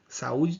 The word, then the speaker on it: saúde: Saúde tem 3 sílabas, ó, saúde.